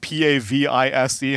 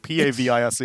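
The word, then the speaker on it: pavise: how to properly pronounced p-a-v-i-s-e how are you saying it Jack p-a-v-i-s-e I think I'm pretty sure it's pavis pavis sounds just more fun more they're both right Italian didn't we Google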